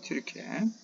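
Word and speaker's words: Türkiye: 자, 많은 기업들이 한국이라든가 우크라이나, 폴란드, 그리고 튀르키예, 이건 옛날에 터키를 발음했는데 걔네들은 터키를 발음 안 한다 그래요. 영국식 발음이죠. 튀르키예입니다. 튀르키예.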